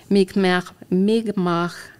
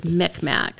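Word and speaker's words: Mi'kmaq: the author is of mikm MiG um it used to be pronounced in the old days mcmack which is inappropriate and that's the pronunciation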